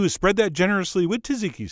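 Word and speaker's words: tzatziki: spread that generously with tziki sauce although I think it's pronounced ziki who knows but I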